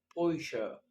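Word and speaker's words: Bäuche: يبقى أنا بدل ما كنت بنطق خ بقيت بنطق شين. كنا بنقول باوخ، باوخ، هقول بويشا، بويشا، باوخ، بويشا.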